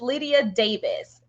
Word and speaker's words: Lydia Davies: guys miss Lydia Miss Lydia Davis did I say your name right yeah you did actually because I'm British so you actually pronounced it never happens awesome awesome awesome